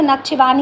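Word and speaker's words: Nakhchivan: है, this is अ नाकोचिन ना, या फिर हमें नक्चिवान भी बोलते हैं। अब ये प्रोनाउंसिएशन आप एक बार देख लीजिएगा इसका, वैसे मुझे पता है तो नक्चिवान ही है इसका, और उसका है नागोमो काराबाख रीजन।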